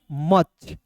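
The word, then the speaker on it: much: उसी प्रकार यहां पे एम यू सी एच को मूछ नहीं पढ़ेंगे इसे पढ़ेंगे मच मच मींस ठीक है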